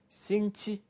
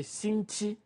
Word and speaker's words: 星期: 星期, that's all. When you know how to say 星期, 星期, that means week, then you can pronounce from Monday to Saturday to Sunday without any new word.